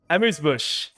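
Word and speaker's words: Amuse Bouche: Pronounce Amuse Bush? Amuse Bush.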